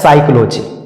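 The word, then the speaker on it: psychology: उसी तरह से आगे पी एस वाई सी एच ओ एल ओ जी वाई इसको पढ़ा जाता है साइक्लो जिक क्योंकि यहां प के बाद एस आया है और नियम भी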